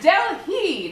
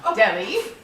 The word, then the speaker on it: Delhi: It's Delhi, not Deli. Billy, that H is silent.